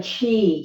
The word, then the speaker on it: chi: how to cultivate the chi. Chi is energy, whether it's spelled C-H-I, as in Tai Chi, or it's spelled Q-I, as in Qi Kong. Different culture, times, different spellings.